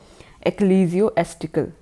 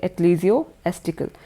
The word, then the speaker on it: ecclesiastical: इसको बोला जाता है एक्लीजियोस्टिकल, ठीक है, एक्लीजियोस्टिकल। तो फर्स्ट ही आपका जो ये स्पेलिंग है ये ठीक है, ECCLESIASTICAL, ठीक है।